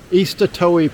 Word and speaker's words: Eastatoe: Again, it's the Eastatoee Passage.